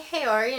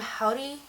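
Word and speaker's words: haori: a howdy uhhuh uh-huh I was pronouncing it wrong when I went into the store I was like do you have any hiori and she's like M howdy howdy and I was like ah yeah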